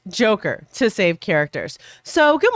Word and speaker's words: JKR: Brian Solis says, instead of writing John, Kim, and Ray, I'm redubbing you guys Team JKR, pronounced Joker, to save characters.